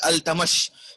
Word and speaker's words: Iltutmish: Shamsuddin Al-Tamas. You can see it is written at Iltutmish, but we will just pronunciate it like Al-Tamash.